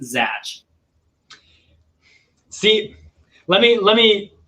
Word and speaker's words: Zach: about zach with the ch which is actually pronounced zach see let me let me let me dive